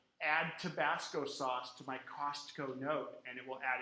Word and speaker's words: Costco: really weird with Siri, you have to pronounce the T in Costco. So I can say, add Tabasco sauce to my Costco note, and it will add it to the note.